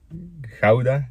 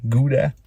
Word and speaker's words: Gouda: a Net game here in hauda Gouda as you Americans say it there was nothing retro